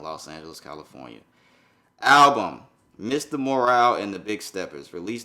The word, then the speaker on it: Morale: It's not Morrow, it's Morale. Mr. Morale and the Big Steppers. That's how you say it.